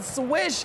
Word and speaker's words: Swish: Happy Chinese New Year, but man, Swish, your name is rhyming with Mish, okay?